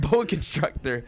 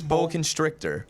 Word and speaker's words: boa constrictor: Boa Constructor I did I always pronounce it Boa Constructor I never know it's Bo constrictor Bo constrictor Bo are